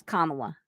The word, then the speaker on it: Kamala: Oh, and the correct pronunciation of her name is Kamala. Yeah, I know, comma.